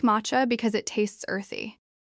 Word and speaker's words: matcha: The word is matcha. It sounds like matcha. Not may-cha. No. Ma-cha is closer.